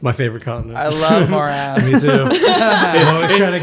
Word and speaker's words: Moerass: Well, it's spelled Moerass. MOE. It's spelled literally more ass. Not You've just MORE. You've moved the R and the E essentially. MOERAS. More ass. Yeah, more ass. Whatever. Anyways, morass. As in a morass.